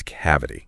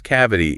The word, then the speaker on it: cavity: And the way that we pronounce cavity is cavity. Cavity. So that stress is on that first syllable.